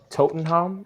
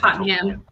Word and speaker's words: Tottenham: his swan song in totenholm is that did i pronounce that correctly or is it just totally tottenham tottenham thank you so megan mike i